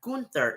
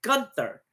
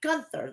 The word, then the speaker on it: Gunther: say gun Gunther It's A Gunther it's not gther it's Gunther okay I'll start saying it Gunther then starts off by saying he defeat he